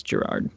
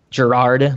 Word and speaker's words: Gerard: I did see pronunciation up above. It's Gerard. Gerard, like Gerard Butler.